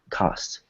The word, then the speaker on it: cost: so same thing so here we have a word that ends in a t cost cost good good so yeah so at T at the end of the words you want to make sure that it's soft it's weak good okay and then